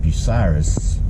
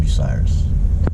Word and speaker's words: Bucyrus: When in Ohio, in a town called Bucyrus, and most people, when they try to read it, they pronounce it Bucyrus, but it's called Bucyrus, Ohio.